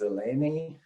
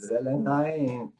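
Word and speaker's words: Zelenay: Yeah, my name is being often pronounced as Zelenaem. We pronounce it Zelenaem, but actually my last name is Hungarian.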